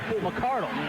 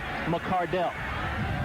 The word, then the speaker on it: McCardell: the Cleveland Browns, I thought we used to pronounce his name McCardell. And I was right, we did. Yep. Well, his father sent a letter to the organization saying the correct pronunciation of the name is McCardell.